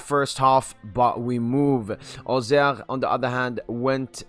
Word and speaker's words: Auxerre: It's Paris Saint-Germain versus AJ Auxerre. It's pronounced Auxerre.